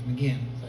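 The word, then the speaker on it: McGeachin: you in here her name is janice mcgeechen mckeon actually is how you say it spells nikita but it's mcginn and as far as i know i've met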